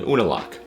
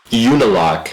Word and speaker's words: Unalaq: unlock by the way i know the last episode i said unilak a hundred million times but you the letter u is said like you it's just it's just like a reflex well as soon as